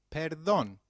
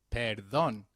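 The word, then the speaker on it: perdón: me when used to beg pardon translates to Peron let's try that one more time Peron very good however for seeking someone's attention excuse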